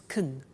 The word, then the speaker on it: can: can speak Spanish now notice the pronunciation of can becomes Kun she can speak Spanish